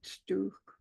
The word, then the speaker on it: stew: I want to mention the word stew, which means a stove. Mm-hmm. It's actually a mispronunciation of the word stove. The old people couldn't say it, so they learned it as stew.